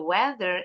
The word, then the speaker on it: weather: The weather is bad. Ini bacanya rolling. A-nya enggak bunyi.